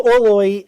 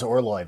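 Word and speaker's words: Orloj: I got Orloy right. Um so Orloy is just as Rob said. We have so many people correcting us in the comments. It is Orloy.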